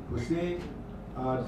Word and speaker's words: Poussin: Poussin.